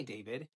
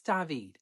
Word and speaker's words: David: First day, my teacher says, "Hi, David." I had zero fear, corrected her, and I said, "It's David. It is spelled the same, but pronounced differently."